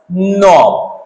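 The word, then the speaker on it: knob: ही नहीं दोस्तों यहां पर देखिए नाइफ नॉट नोब नोब तो के का साउंड नहीं आ रहा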